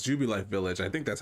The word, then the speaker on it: Jubilife Village: not gonna lie i don't know how you pronounce this is jubilee village or i think it's jubilife village i think that's how you pronounce it uh